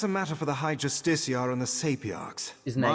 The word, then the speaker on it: Justiciar: I've got to remember how to say that, because I used to say Justicar, and then I said it wrong again just now, so it's... Justiciar.